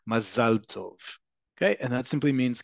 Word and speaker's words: Mazel Tov: It's perfectly all right, but just understand in modern Hebrew, the standardized way to say it is Mazel Tov.